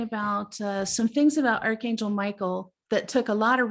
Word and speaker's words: Michael: is like god and it actually was originally pronounced me ka-el even though now we commonly pronounce it michael the origin of his